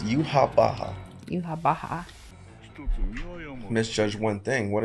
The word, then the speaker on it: Yhwach: I know people weren't saying that's the way to pronounce it. I'm gonna pronounce it just like Yamamoto does. Yhwach.